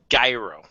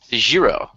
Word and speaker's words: gyro: from LS as well it's a gyro airo some places around here as well so uh take your pick about how you want to pronounce that well here we